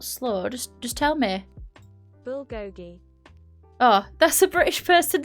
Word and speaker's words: bulgogi: Oh, bulgogi. I need to pronounce that properly. No, not slow. Just tell me. Bulgogi.